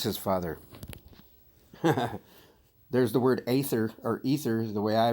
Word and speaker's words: Aether: Ether, pronounced Aether, is one of the primordial deities.